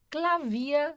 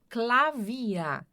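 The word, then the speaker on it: Klavier: Clavia é piano. Clavia, ó. Então, terminou em er. Clavia.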